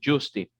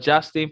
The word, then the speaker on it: Justin: am, bueno, en este momento estoy pronunciándolo porque estamos hablando español, Justin. Así es como nosotros, los hispanos o los latinos, pronunciamos Justin. Ok, no Justin porque ese ya es americano.